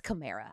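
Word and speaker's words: Kamara: name he was like well it's cimera I was like like a Camaro right he was like yeah that's what it is but he has just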